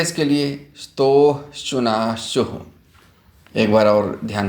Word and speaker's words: स्तोः श्चुनाश्चुः: सूत्र है इसके लिए स्तोः श्चुनाश्चुः। एक बार और ध्यान से सुने, स्तोः श्चुनाश्चुः। इसके उच्चारण पर आप विशेष ध्यान दीजिएगा।